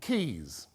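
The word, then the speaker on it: Caius: apothecaries like in Italy right second founder John Key's that's how it's pronounced Padua MD 5041 and when he comes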